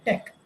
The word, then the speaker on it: TeX: It was invented as TEX, but it is pronounced as tech.